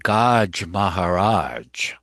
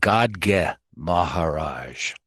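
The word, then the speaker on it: Gadge Maharaj: Then Baba set out for the lepers colony along with Gaj Maharaj. I mean, sorry, it's pronounced God Maharaj.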